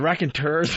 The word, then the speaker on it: Raconteur: Enough about the Raconteurs. Would you forget the Raconteurs, Arthur? You must have hated those Raconteurs. Pronunciation key, Raconteur, right? It would be Raconteur, according to the fine internet.